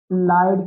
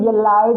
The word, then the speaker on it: ylide: बन गया आपके पास लाइड की फॉर्मेशन होगी ओके इसको यलाइड नहीं पढ़ना आपने वा य पर साइलेंट है स इसको लाइड बोल तो देखो एक ही